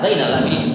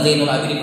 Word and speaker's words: Zainal Abidin: Ini namanya di fathah Zainal Abidin, bukan Zainul Abidin, bukan.